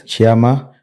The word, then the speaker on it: Tshiama: it's Chama or so it's yes Chama so the funny thing is that as I was saying pronounce it the very the way it should